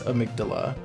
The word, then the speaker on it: amygdala: of Mick doula so some people say Amidala are sorry I McDonald I Magdala I believe the proper pronunciation is amygdala it is a part